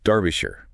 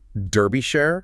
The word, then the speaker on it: Derbyshire: It is Darbisher with an R sound like in car, not derbyish.